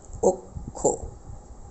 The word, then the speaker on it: অক্ষ: যাবে অর্থাৎ উচ্চারণ করতে গেলে বলতে হবে আমাদের অক্ষ উচ্চারণ ক্ষেত্রে আমাদের বলতে হবে অক্ষ একই রকম ভাবে